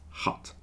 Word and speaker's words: hut: wood Hut so hat when you say hat you have to smile more okay it's more tense in your cheeks and your tongue is touching your bottom teeth if you want to say Hut with a u you relax your face a little bit more and your tongue moves back a tiny amount and you say Hut hat Hut there's